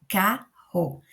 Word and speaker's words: carro: Então, esse RR junto, no início aqui dessa sílaba aqui, nós temos RR que vai ficar ro, carro. Lembrando que aqui a gente vai ter essa divisão, né, na hora de separar a sílaba. Mas ele tem um som mais forte.